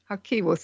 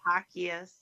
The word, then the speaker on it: Jaquias: Again, if you're just joining us, we're with our amazing guest, Hakos. And, I indicated that I may have been pronouncing your name wrong. Yeah, my last name is Hakias.